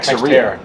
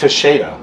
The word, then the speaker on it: Teixeira: Texeria. Oh. It's not. Teixeira. It's Teixeira.